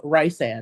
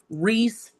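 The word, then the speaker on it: Rhys: God, there's an actual pronunciation guide, and someone still will call him Rice and I'm like, who is Rice? Who? It is because she even writes like Reese and then we'll put Reese like Reese's Reese Reese, and pieces.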